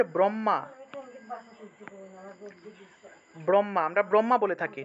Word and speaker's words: ব্রহ্ম: হ যুগ্ম এভাবে উচ্চারিত হয় মনে করেন যে ব্রহ্মা ব্রহ্মা আমরা ব্রহ্মা বলে থাকি ঠিক না কিন্তু এটা আসলে ব্রহ্মা হবে না এটা হবে ব্রাহ্ম ব্রহ্মা অর্থাৎ হ